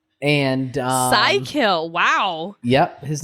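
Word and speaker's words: Psykill: the Gobot I should say his name is psycho and uh Psy kill wow yep his name is Psy kill and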